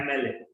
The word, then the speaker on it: MLA: इसका प्रोनाउंसिएशन है ऐसे, एम एन लगेगा। एम, ए साउंड है, ए साउंड, एन लगेगा। इज एन एमएलए।